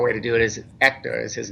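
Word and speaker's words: Héctor: Yeah, but you don't pronounce the H. Is the proper way to do it is Hector is his name, and he's great.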